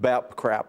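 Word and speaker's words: BAPCPA: calling something that is the initials of which are b.a.p bap cpa which is unpronounceable but you have you managed to announce it to pronounce it bap crap oh yeah it works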